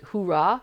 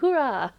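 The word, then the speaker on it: hoera: from a lotro player I have learned like hurah how to spend that spell that in Dutch which is like h o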